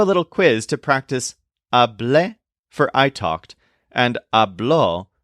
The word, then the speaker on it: hablé: The form for I talked is hablé, with a stress on the second syllable.